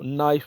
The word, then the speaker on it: knife: ये वर्ड है KNIFE, कनाइफ नहीं बोलना, इसको नाइफ बोलना है।